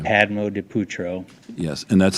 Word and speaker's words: Padmodipoetro: Padmo de Putro. Yes, and that's spelled Padmodipoetro.